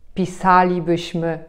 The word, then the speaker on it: pisalibyśmy: Mianowicie chodziliśmy, widzieliśmy, robilibyśmy, pisalibyśmy, śpiewalibyśmy. Zauważcie, że tam, gdzie mamy końcówkę li bądź libyśmy, nie akcentujemy tej części słowa.